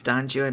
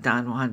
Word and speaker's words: Don Juan: his Don Juan and it's Don Juan not Don Juan because he Rhymes it with you and right so it's